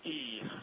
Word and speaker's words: I: And actually, the correct pronunciation is E, but I'm just going to say I for the moment that everybody's more familiar with.